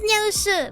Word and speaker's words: Nyao Shu: Is that my name is Nyao Shu, but it has to be pronounced Nya, like it's Nyambai, which means eat. It's the sound of bao. It's in Chinese, simplified Chinese, it's bao. And then it's Shu as sumai.